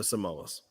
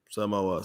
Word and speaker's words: Samoas: There's no better cookie on earth than the Samoas. The Samoas. Samoas.